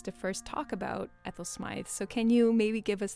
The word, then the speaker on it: Smyth: it's the very first recording of Dame Ethel smi's 1930 Symphony the prison James thank you so